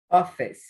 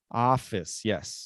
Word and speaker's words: office: Office. Office. Office, yes. So just be careful. There was a little bit of an easy at the end. Officey. No, Office. office.